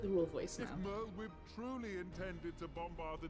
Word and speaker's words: Merlwyb: So, fun fact, I've always pronounced it Merlwyb, not Merlwyb, because it looks Welsh to me, and as I understand it, the Welsh pronunciation would be like Merlwyb. I'm bad at Welsh, but Merlwyb sounds weird to me.